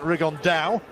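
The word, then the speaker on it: Rigondeaux: fighting rigond though or as he's correctly pronounced with the uh Spanish accent rig on Dao and look two absolute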